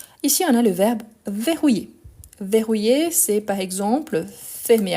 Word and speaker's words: verrouiller: attention à ça donc verrouiller en sachant qu' ici on entend bien les e ver rouiller il n'y a pas